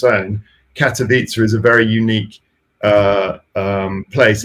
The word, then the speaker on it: Katowice: Katowice is the correct pronunciation of the town in Poland.